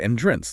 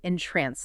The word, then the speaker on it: entrance: So an entrance, like a doorway, has the emphasis on the first syllable. You got it. But if you captivate someone's attention, you entrance them with the emphasis on the second syllable.